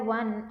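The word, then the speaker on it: one: देखने में तो ओ क्या लग रहा है, ये वोवल लग रहा है, तो हम एन लगाने की गलती कर सकते हैं, बहुत सारे स्टूडेंट्स ने की होगी, बट क्योंकि इसकी जो प्रोनाउंसिएशन है वो है वन और वो आ रहा है, और वो को हिंदी में क्या कहा जाता है, व्यंजन कहा जाता है, दैट इज कॉन्सोनेंट, और कॉन्सोनेंट के साथ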